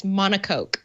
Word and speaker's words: monocoque: we'll get monocoque oh yes google says to pronounce it it's monocoque monaco oh i was right how about that